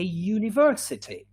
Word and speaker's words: university: one is a uniform or even a university a university we can't say and university because university believe it or not starts with a consonant sound yeah in american english